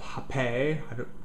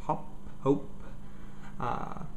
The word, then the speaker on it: Hoppe: pale ale I EPA it's called hop a if you pronounce it French or just hop hope so just decide on a way you want to pronounce it and go for it